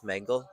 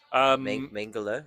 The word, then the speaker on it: Mengele: Very Joseph Mengele.